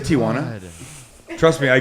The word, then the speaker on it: Tijuana: And it's amazing how many San Diego broadcasters say Tijuana. Yeah. I'm like, dude, there's no A.